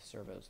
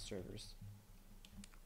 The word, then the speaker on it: servos: those these Ser yeah the servos not servers mispronunciations I'm getting all